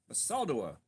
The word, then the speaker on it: Basaldua: Basaldua, that's how that's pronounced.